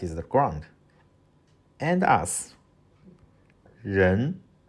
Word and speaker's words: 人: And us, 人人人, people, or the human being.